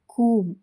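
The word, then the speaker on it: comb: B silent ಆಗಿರುವಂತಹ ಪದಗಳು ಕೂಮ್ ಅಂದ್ರೆ ಬಾಚಣಿಗೆ ಇಲ್ಲಿ ಬಿ ಸೈಲೆಂಟ್ ಆಗಿದೆ ಲ್ಯಾಮ್ ಕುರಿಮರಿ ಇಲ್ಲೂ ಬಿ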